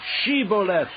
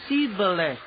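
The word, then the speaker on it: Shibboleth: replied no they said all right say sheoth if he said sheth because he could not pronounce the word correctly They seized him and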